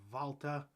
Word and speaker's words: Walter: says his net he's pronounces his name as valta so you know germans usually pronounce a w as a v so you know